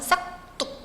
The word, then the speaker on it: 싹둑: 자, 받침 기역 뒤에 연결되는 디귿은 된소리로 발음하는데 어떤 예외도 없이 그 기역 뒤에서 디귿은 무조건 된소리로 나기 때문에 그걸 굳이 된소리로 적지 않는다는 거예요.